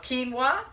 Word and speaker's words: quinoa: word so anyway now you know how to pronounce that word it's called quinoa so I'm heating up my 1 tablespoon of